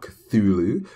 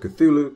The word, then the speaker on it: Cthulhu: that good stuff so his name isn't supposed to be pronounced by the human tongue so technically no matter how you say his name you're not going to be able to say it right so I'm just going to go with cthulu cuz that's the normal way most people say it so the alter